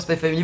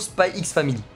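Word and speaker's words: SPY×FAMILY: vous dis les gars c'est officiel le X ne se prononce pas en fait vraiment après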